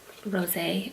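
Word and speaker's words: Rosé: color rose on eyes it has a little accent on the e so it's rose a on ice and guys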